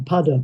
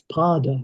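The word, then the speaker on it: pāda: I was thinking pada, but it's pard. It's got a long a so it's got to be foot, hasn't it?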